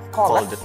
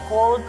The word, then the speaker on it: called: Misalnya kata menelpon, call, itu nanti dibacanya bukan called, tapi pakai abis L langsung D. Jadi called.